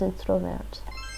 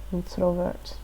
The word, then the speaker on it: introvert: Hij is introvert. Hij is introvert. Introvert. Oops, I pronounced it like the French.